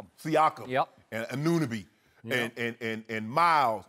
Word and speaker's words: Siakam: They, Sakiam, how do you say his name? Siakam.